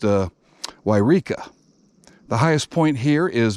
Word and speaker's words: Yreka: sure how to pronounce it but it is pronounced uh yreka the highest point here is mount shasta which